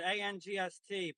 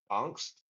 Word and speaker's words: angst: shall see okay convert a n GST pronounce it anst Jesus so it's just like ant you say instead of angst you say that's crazy yeah dialect